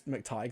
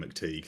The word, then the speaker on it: McTighe: So Pete McTighe, I believe it's McTighe. That's what Stefan Powell called him on Doctor Who Unleashed. So that's the Well, pronunciation I'm going with. that's great information to learn after I've already recorded my podcast and called him McTeague through the I, whole thing.